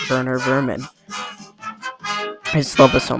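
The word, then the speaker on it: Werner Werman: Even down to the name being spelled Warner Verman, but it but it makes sense to pronounce it Wer Vman.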